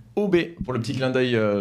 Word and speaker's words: Hobe: tous hein déjà et pour la prononciation ça s'appelle donc ob pour le petit clin